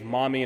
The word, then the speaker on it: Mami: I'm calling her Mume because the actual pronunciation to her name is Mami, and I'm not going